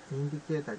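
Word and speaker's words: インジケーター: るんで、私の発音はインディケーターじゃなくてインジケーターって言ってます。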